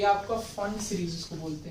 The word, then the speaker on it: Pfund: तो ये आपका फंड सीरीज उसको बोलते हैं। पी इसमें साइलेंट होता है, PFUND, फंड सीरीज।